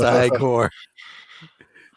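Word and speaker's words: Igor: frankenstein afraid of frankenstein no it's pronounced high core kind of trolling him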